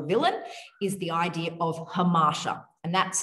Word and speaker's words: hamartia: hero or a villain is the idea of hamasha, and that's spelled Hamartia.